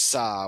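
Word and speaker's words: 사: The Korean word for four is pronounced sa which is also the pronunciation for the hanja character for death.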